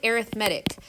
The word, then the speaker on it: arithmetic: It's spelled exactly like the word arithmetic, but you pronounce it arithmetic.